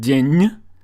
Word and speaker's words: день: For example, in the word день, ñ is soft because of the soft sign, or учитель, л is